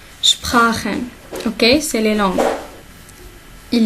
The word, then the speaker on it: Sprachen: Sprachen. On a dit CH. Avec A, c'est R. Sprachen.